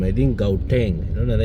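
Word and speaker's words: Gauteng: Don't it's pronounced as gouteng.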